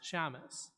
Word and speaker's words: Shamus: combined it into a name no one can pronounce, Shamus.